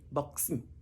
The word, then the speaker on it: Buxton: You see, we have two syllables, Buxton, X-T, consonants. They come together. And sometimes we have what we call a glottal stop. That means you swallow the T and you say Buxton.